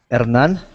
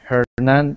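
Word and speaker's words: Hernán: Well, actually, in Spanish is Hernan, but Hernan. Okay. yeah, but in English you pronounce it like Hernan, but it's okay for me.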